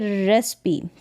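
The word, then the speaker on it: recipe: कि यहां पर देखें रेसपी क्या है रेसपी इसका उच्चारण यहां पर है तो यहां पर रेसपी में ई का उच्चारण हो रहा है और यहां पर सिमिली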